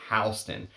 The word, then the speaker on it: Halston: She would say his family name is Halston, but Halston is a force to be reckoned with in you know, the business sense. But she used to claim that his correct pronunciation was Halston.